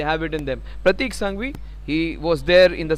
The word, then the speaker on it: Sanghvi: Pratik Sanghvi, I just got his name wrong in the most part of the innings. It is not Sangha, it is misspelled over there. Pratik Sanghvi it is.